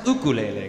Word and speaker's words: ukulele: And it's pronounced ukulele, correct? That's the correct Hawaiian pronunciation.